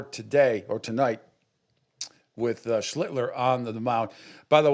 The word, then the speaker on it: Schlittler: Every single one of you pronounce his last name. You kept first. Schlittler. Oh, well, he's the master. Schlittler. Schlittler. You now your turn. Sound like Hitler.